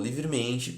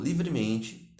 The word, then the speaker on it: livremente: acentuação tônica é paroxítona paroxítonas são as palavras cuja sílaba tônica que é mais forte é a penúltima o vocábulo livremente é paroxítona porque o acento a tonicidade principal dessa palavra recai sobre a sua penúltima sílaba sílaba como está destacado